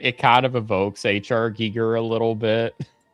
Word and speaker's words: Giger: So it's pronounced giger.